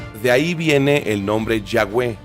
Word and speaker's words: Yahweh: ahí viene el nombre Yahweh y realmente no tiene pronunciación porque son puras consonantes pero si quisiéramos hacer una pronunciación parecida a lo que es sería como un respiro o un suspiro de ahí viene el